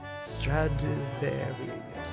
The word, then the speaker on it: Stradivarius: Stradivarius.